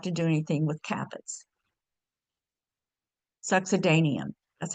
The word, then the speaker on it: succedaneum: Succedaneum, that's how you pronounce it. Succedaneum.